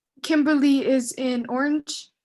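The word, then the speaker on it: Kimberley: here is kimberly amber kimberly is spelled weird it's k-i-m-b-e-r-l-e-y kimberly is in orange it's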